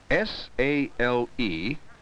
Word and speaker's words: sale: a i l sale both words have the long a sound say them out loud and listen to the long a sound in both words saale and saale there's